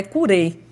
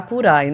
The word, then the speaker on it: Curae: é Cuidado em latim a pronúncia em Latim é até curer não é curai e a gente abrasileirou para curai né em breve a